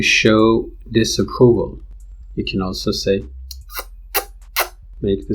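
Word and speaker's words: Xhosa: zulu and sa that's xh is actually click itself I think as far as I know it's pronounced sa so in sa and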